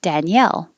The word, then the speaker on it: Danielle: usually female name and the stress is on the second syllable danielle danielle i'll go back up samuel